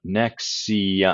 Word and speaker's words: NXIVM: And for anyone trying to find about Nexium, it's spelled a bit weird. It's spelled NX. How do they spell it? Nexium. I think it's NXIVM.